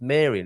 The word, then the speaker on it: Marian: I'm pronouncing that right if it's to do with Mary it's Marian isn't it rather than Maran but anyway um it